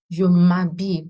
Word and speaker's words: s'habiller: Je m'habille. Please don't pronounce the H. The H isn't pronounced. The H is not pronounced.